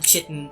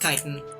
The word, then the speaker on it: chitin: I want to call it chitin so bad. I was so upset when I learned that it was pronounced chitin. I think I learned the correct pronunciation from like a Skyrim Let's Play.